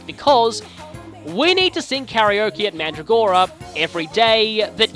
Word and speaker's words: karaoke: spend it seeing karaoke well karaoke is the more correct Japanese pronunciation it's basically short for